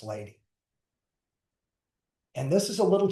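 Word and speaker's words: Ledi: His name is Lei, but it's pronounced lady.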